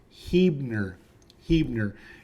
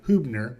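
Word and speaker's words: Huebner: your nose so don't do it it is pronounced heer heer and I've heard A variation of Huer but not whatever else that other stuff is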